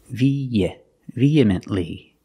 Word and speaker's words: vehemently: vehemently pronunciation vehemently the H is silent we don't say V it's just via you link the e in the air with the e sound vehemently feminly again the t is a stop T it's not vehemently and